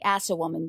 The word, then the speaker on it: Assawoman: we're looking at the assawoman bay and yes that's spelled like it sounds and I'll leave a